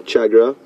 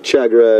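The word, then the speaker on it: tchagra: there goes the chagra again interesting name the chagra it's spelled TC h a g r a pretty birds we don't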